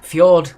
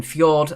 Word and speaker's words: fjord: is an english word so again fjord has a silent j but it's not an english word number two which is